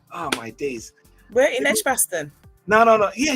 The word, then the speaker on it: Edgbaston: Yes, North Edgbaston.